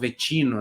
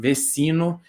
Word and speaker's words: Vecino: Matias Vecino, who now Vecino, which is pronounced Vecino in Italian, but in Brazil people call it Vescino, who will also be in our dictionary and terms.